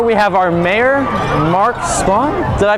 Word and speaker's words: Spahn: Coming up here, we have our mayor, Mark Spahn. Did I pronounce that correctly?